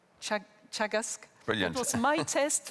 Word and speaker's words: Teagasc: Food Development Authority in Ireland, which is called Teagasc. Brilliant. It was my test for pronouncing a Gaelic word.